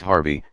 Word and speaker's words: HRVY: a half marathon youtuber hrvy pronounced harvey has already caused quite